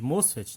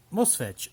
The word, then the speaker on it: MOSFET: Alguns chamam de MOSFET, né? Na pronúncia norte-americana, nós vamos adotar a pronúncia aqui abrasileirada, tá? MOSFET.